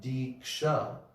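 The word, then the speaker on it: दीक्षा: guru and gradually like the term diksha has two syllables d and sha and when all of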